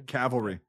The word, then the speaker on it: cavalry: Yeah, cavalry. Just V before whatever.